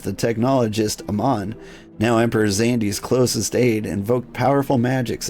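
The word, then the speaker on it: Xande: While you pronounce it Xandi, I think most people pronounce it Xandai. I'm going with Xandi.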